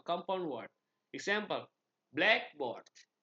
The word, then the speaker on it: blackboard: Stress is typically placed on the first element of a compound word. Example, blackboard.